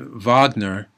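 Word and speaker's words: Wagner: very popular operas and Vagner and that's how you pronounce the his name because it's a German name so the W is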